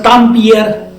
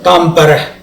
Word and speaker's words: Tampere: Earlier, it was thought that it's a Tampere or what is that. But then, when I got the real pronunciation Tampere, then I thought that there is something with this city.